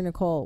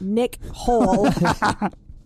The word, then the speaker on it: Nicole: The only positive is producer Nicole, which I am... Bullshit. To understand is indeed pronounced Nicole, not Nick Hole.